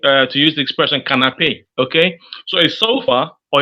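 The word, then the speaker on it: canapé: safer to say uh to use the Expression canape okay so a sofa or a couch in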